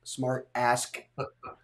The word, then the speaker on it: SmartAsk: to get this awesome smart ask book um make sure you pronounce that k oh yeah man it's